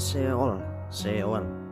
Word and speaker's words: Sheol: Pelafalannya Sheol ya.